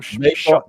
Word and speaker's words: shirt: I'm saying Call him shut. based on the what it Yeah, said. man, shut. Shut. That's how they Yeah, pronounce. They mean t-shirt, but they pronounce it as shut.